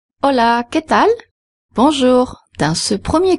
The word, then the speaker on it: Hola: Hola. Du point de vue de la prononciation, c'est très facile. En espagnol, on prononce toutes les lettres sauf le H.